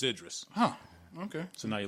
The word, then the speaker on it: Idris: the podcast okay and they said do not pronounce it eid Reese or Idris its Idris huh ok so now